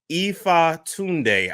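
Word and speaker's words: Ifatunde: Umar Johnson, Ifa Tunde. I realize whenever you do interviews, people never really pronounce the last name. Correct. Ifa Tunde.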